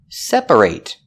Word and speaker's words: separate: for an adjective separate we pronounce a te with a long a sound A8 separate when it's a verb we pronounce it separate example I need to separate my laundry and the reason we pronounce it eight in the verb separate is because that syllable is stressed separate three syllables we